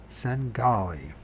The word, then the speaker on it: Svengali: Svengali. Singali. Do Mariers Singali. Svengali. So the V is not pronounced in that. Sengali.